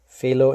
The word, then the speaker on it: Felo: Felo in the German pronunciation.